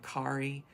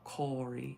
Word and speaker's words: Kári: So it looks kind of like Kari, but it's pronounced more of Kári, you know.